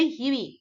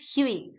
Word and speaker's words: Hughie: ওকে, HUGHIE, এটার কিন্তু অন্য উচ্চারণ হবে না, এটার উচ্চারণ হবে হিউই। সো pronunciation is very important, you should be very mindful when you are pronouncing the name. It is হিউই।